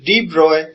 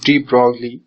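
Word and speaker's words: de Broglie: CM okay so after these theories were introduced D Bry came up with a another theory D Bry came up D it's uh its pronunciation is DB it's not d brole some people pronounce it as D broley he came up with his uh own theory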